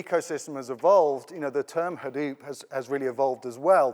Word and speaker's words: Hadoop: especially about Hadoop, because he pronounces it completely differently from anyone else, and we've all been pronouncing it wrong. It's not Hadoop, it's Hadoop, but he's not too precious about that.